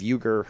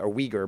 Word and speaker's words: Uyghur: uh making slaves of euger muslims and uh uyghur muslims as it's supposed to be pronounced and uh you know